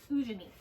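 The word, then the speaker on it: Eugénie: that you follow mainly her name is fujini that's how they say it it's spelled eugenie so ujani is the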